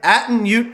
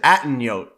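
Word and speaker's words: Atunyote: And he's like, "It's actually a Dunyo. So you've been saying it wrong on your podcast for like 3 times, but I actually said Atten Yote."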